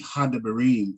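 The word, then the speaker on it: הַדְּבָרִים: So you would have had Debarim. So it would be Hadebarim is really what it sounds like, right?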